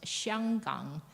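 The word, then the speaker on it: 香港: Yes, and so actually the pronunciation, for example, the word Hong Kong, and in Mandarin it's pronounced Xianggang. So the consonant has changed, but the character still stays the same.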